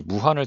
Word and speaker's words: 우한: 이 무한을 중국식으로 발음하면 우한이 됩니다.